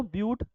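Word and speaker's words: but: हाँ, ब्यूट लिखे हैं, बट नहीं बेटा, ब्यूट है ये। ब्यूटी बट हर जगह नहीं होगा बेटा, केमिस्ट्री है, इसकी लैंग्वेज अपनी प्रोनाउंसिएशन होंगे। जो ब्यूट बोलेंगे यहाँ पर, क्या बोलेंगे, ब्यूटी बट ना पढ़ना।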